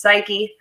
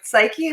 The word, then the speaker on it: Psyche: of the psychedelic podcast there's a hyphen that's why it's pronounced psyche i've said it so